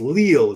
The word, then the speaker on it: Lille: Pronounced Lille.